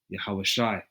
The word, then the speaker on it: Yahawashi: And that's Yahweh bahasham Yahawashi. All right. According to the Paleo Hebrew, that's how you pronounce it.